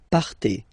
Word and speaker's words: partez: Okay, then for vous, classic ending for vous as well, EZ, but then you pronounce it et, vous partez, vous partez.